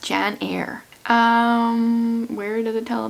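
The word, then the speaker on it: Janyre: says with a question mark her name is pronounced Jan air um where does it tell me what happens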